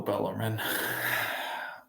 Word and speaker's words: Bellarmine: Oh, Bellarmine. And yes, I'm pronouncing it right this time.